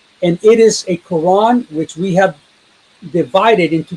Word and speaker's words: Quran: He recited the word without the Hamza, such that Quran would rhyme with the English word lawn. So Quran, lawn.